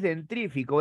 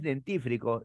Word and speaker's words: dentífrico: es rumorear es rumorar tampoco es dentrífico es dentífrico sucede que nosotros no tenemos dientes tenemos dientes por lo tanto es dentífrico o si tú quieres